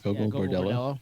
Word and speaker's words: Gogol Bordello: Gogol Bordello?